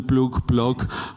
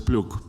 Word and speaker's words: Ploeg: Cuando le pregunté cómo se pronuncia, me dijo como quiera, porque ya estoy acostumbrado a que lo pronuncien Ploeg, pero es Ploeg.